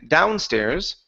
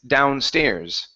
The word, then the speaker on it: downstairs: The stress is on the end of this word. Instead of saying downstairs, it's downstairs.